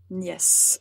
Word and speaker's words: nièce: offre et français concernant le mot nièce je pense que l'orthographe est à peu près le même mais la prononciation est tout à fait différente nièce en français yes we la nièce